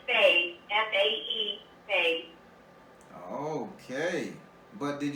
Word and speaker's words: fae: It's a fae. It's pronounced fae.